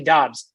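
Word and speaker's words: Doubs: not dudes it's not dubs it's actually dobbs it's spelled d-o-u-b-s but it's pronounced d-o-b-b-s so romeo dobbs fourth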